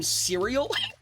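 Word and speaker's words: Cyreil: His name is spelled C Y R E I L. So a lot of people call him serial.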